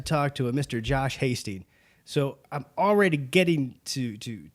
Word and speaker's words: Hasty: We're here with Josh Hasty. Did I pronounce that right? You did. Excellent. We were concerned. We didn't know, is it like tasty?